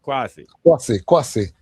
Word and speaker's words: Kwasi: That's why I know, although Kwasi, what the man pronounce his name again? Kwasi or Kwesi? Kwasi. Kwasi, right?